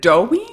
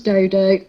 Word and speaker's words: Dodo: in Beijing, you said, was it Dowie, the one that you're working with currently? Her name's Dodo. Dodo. Dodo. Yeah. I don't want to mispronounce her name. So Dodo.